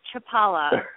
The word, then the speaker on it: Chlipala: I've been listening uh it's chipala so we just say the first is silent okay Chapala Chapala yeah Chapala yes